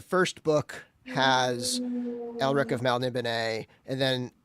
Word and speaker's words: Melniboné: Melniboné.